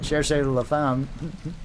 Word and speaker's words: Cherchez la femme: Hey, on the plus side, though, I did pronounce Cherchez la femme correctly, though, for once.